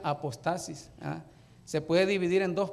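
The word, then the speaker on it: ἀποστασία: Ok, miren, la palabra apostasía está en griego, que se pronuncia apostasis.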